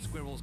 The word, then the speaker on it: squirrel: they won't talk neither squirrels can't talk I don't I I don't like the way British people say squirrel they stuff like so many they stuff so many syllables I've been expecting you